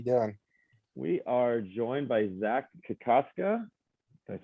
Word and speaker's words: Zach Kokoska: We are joined by Zach Kokoska. Did I say it right? Yeah. Yep, that's the right. I got nervous. We just talked about it. Zach Kokoska, who was just drafted in the 2020 draft in the 10th round.